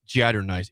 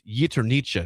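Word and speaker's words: jaternice: Yes, the award looks like Jatter Nice. It's Yeternica is how you say that apparently.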